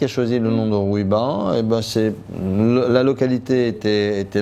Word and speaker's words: Rouiba: Et donc les Européens prononçaient Roviba. Et après, quand on a dit Rouiba, on a toujours trouvé que c'était difficile à prononcer pour les Européens.